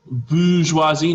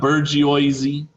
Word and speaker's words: bourgeoisie: sat the bourgeoisie okay bourgeoisie not burgeoisy okay bourgeoisie you're gonna see